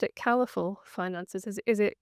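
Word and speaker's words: Caliphal: I would have pronounced it Califul Finances. Is is it Calisl? No colorful finances.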